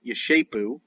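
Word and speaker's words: giscapu: The shapers, G-I-S-C-A-P-U, is pronounced shapu, yeshapu. An SC in Old Saxon is an SH sound.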